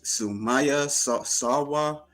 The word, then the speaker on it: Sumaiya Sarwar: Her name is Sumaya Sa Sawa IFBB Pro Wellness. Did I pronounce that right?